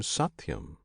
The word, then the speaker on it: Satyam: This name Satyam consists of 3 syllables, Sat, Ti, Yam.